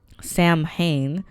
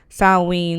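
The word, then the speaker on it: Samhain: This is religion h Sam Hayne. Sam Oh, San Oh, I would definitely was mispronouncing this. Saw is a garlic festival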